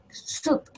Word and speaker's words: soup: Solo una U. Soup. ¿Ya? Cállese. Soup. Eso es sopa. ¿Ya? Porque si lo pronunciamos mal, a lo mejor vamos a decir jabón en vez de sopa.